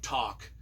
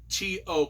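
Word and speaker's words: Tok: visiting the town of Talk t o k to I think we pronounced it to um I remember visiting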